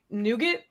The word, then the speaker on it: nougat: Because like the rest of the world doesn't Nougat. even pronounce it that way. Nougat. You mean? It is Nougat, nougat.